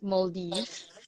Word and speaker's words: Maldives: on the pronunciation. It's Maldives.